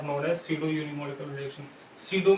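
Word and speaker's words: pseudo: सीडो में P silent रहती है, ठीक, पी साइलेंट रहती है, PSEUDU, सीडो यूनिमोलिकुलर रिएक्शन।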